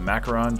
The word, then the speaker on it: macaron: on the world's biggest macaron macaroon how we're going to pronounce it macaron challenge so these are